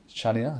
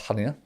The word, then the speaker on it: Chania: So our olive oil comes from a third generation family farm in Crete, on the island of Chania. I think it's pronounced Hania, but it's Hania is a port in Crete.